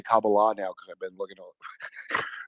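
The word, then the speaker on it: Kabbalah: I have to say kabala now because I've been looking that's how you pronounce it like karate. It's pronounced kabala.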